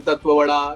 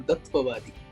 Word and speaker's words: Tatwawaadi: बाद क्या बोलेंगे because I have heard hell lot of surname का प्रोनाउंसिएशन, तत्ववड़ा, तत्वाड़ी, बट आपने परफेक्ट कहा, तत्ववादी। चलिए, थैंक यू सो मच।